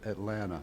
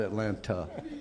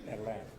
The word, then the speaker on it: Atlanta: I come back to Atlanta which is by the way how you pronounce it. Atlanta. Atlanta. Not Atlanta. Atlanta.